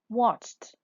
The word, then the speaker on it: watched: Watched. Watched. Watched. We pronounce the ed at the end. T. Why? Because the verb ends with the sound ch.